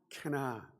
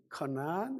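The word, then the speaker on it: כנען: 캐나안. 원래 발음은 커나안 아니면 캐나안. 히브리어입니다.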